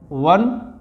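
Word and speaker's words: one: यहीं आपका हो जाता है वन, इसको उच्चारण है आपका व, यानी व्यंजन से स्टार्ट हो रहा है तो हमारा यहाँ एक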